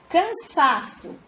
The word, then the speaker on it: cansaço: Cansaço.